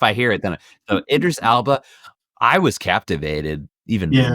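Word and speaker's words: Idris Elba: Idris Alba. Idris Alba. There it is. It's like if I hear it, then so Idris Alba.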